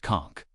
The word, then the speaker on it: conch: Let's talk conchk. Pronounced conchk.